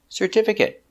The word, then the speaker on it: certificate: Four syllables. Stress the second syllable.